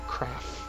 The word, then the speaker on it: Kraff: Kraff. That's how it's pronounced.